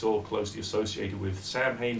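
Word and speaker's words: Samhain: all closely associated with Sam Hayne sa way or sawin depending upon who's pronouncing it at the time the start of the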